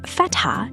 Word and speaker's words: fatha: The word Fatha is pronounced with 2 very distinct syllables, fat and ha.